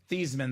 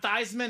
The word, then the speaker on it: Theismann: The grandma said, no, I'm not mad because it's actually pronounced Theismann. It's not Theismann. It's not Thiesman. The proper pronunciation is Joe Theismann.